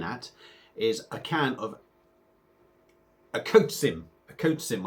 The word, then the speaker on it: Okocim: is a can of a coach sim a coach Sim I believe that's pronounced akotsim a yasni uh it's in